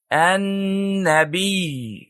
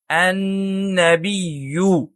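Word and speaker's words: النبي: ہوتے ہیں، اسی لیے ہم کہتے ہیں النبی، نہ کہ النبیو اور نہ ہی النبی۔ تو صحیح تلفظ ہے النبی، اور اس طرح ہم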